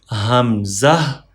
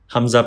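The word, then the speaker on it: همزة: part of throat, and Hamza pronounced from lower part of throat. From here, Hamza. One more time. Hamza pronounced from throat.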